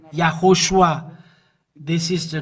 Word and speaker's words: Yahushua: from the the Jew yahushua is his name and this is the way to pronounce this but the Jesus wor